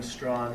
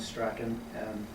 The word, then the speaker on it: Strachan: As many of you know, there are two legitimate and proper pronunciations of the surname, those being Strachan and Strachan.